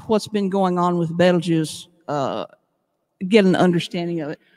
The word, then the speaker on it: Betelgeuse: a lot lately and no it is not pronounced like the movie belgium's not beetlejuice okay betelgeuse um so the title is called your results